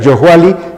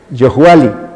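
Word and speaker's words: Yohualli: Como pueden ver, Yohuali tiene una ligera pronunciación, Yohuali, que es noche.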